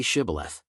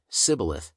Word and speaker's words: Shibboleth: If he replied, "No," they said, "All right, say Shibboleth." If he said, Sibboleth, because he could not pronounce the word correctly, they seized him and killed him at the fords of the Jordan.